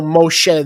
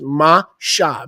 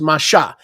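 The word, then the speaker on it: משה: Shin Hey, there's no Moshe there, there's Masha. Mem Shin Hey is without vowels, is pronounced Masha.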